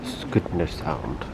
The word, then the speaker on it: Skudeneshavn: So apparently it's pronounced Skudeneshavn.